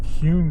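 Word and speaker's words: Kuhn: We're going to make a left on Cune Street. and it's spelled uh k uh hnun street.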